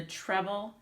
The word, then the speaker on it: treble: you is called the treble clef sign the word is spelled treble it's not in trouble it has an e clef son when we've